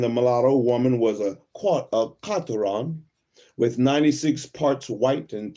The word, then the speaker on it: quarteron: The French word quarteron, pronounced roughly as quarteron, is a noun meaning a person with 1/4 African, Aboriginal, and 3/4 European ancestry.